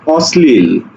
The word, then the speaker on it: অশ্লীল: যখন একটু আগে বললাম অশ্লীল আমরা এটাকে উচ্চারণ করছি কি অশ্লীল ছ ছ একটা ব্যাপার আছে ছ অশ্লীল অস ছ